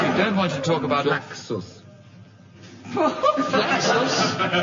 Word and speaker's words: Flaccus: Flaxus. Flaccus? 2 C's, dear. As There's an 2 accident. C's, but I still pronounce it as Flaccus.